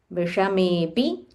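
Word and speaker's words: विषमेऽपि: So this S sign that you see, this is called Avarga Chinna in Sanskritam. So when we do a Padacheda, Padacheda is we are breaking down into individual words. So this will be Vishame Api. So there is a hidden which is only used when we are trying to understand the meaning. So when we are chanting, you can ignore this S sign and you can say Vishamepi.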